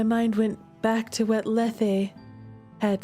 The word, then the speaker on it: Lethe: And I learned to pronounce that in class as Lethe because that's how the ancient folks would have said it. But apparently, according to Google searches and a few different like pronunciation guide websites, modern people say Lethe.